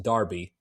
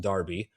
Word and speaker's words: Derby: It's called It's called It's pronounced Darby. D E RB Y is pronounced Darby.